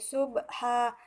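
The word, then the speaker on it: ضبحا: kalimat atau akhir ayat sehingga cara membacanya bukan subhan tetapi subha dipanjangkan selama 2 harokat.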